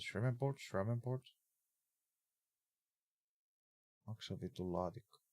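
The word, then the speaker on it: Shreveport: Uh, Sherman port. You pronounce it shreport.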